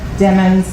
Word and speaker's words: Demons: you following calculus and remember demons like rhymes with lemons I know my okay going on to October 26 2018.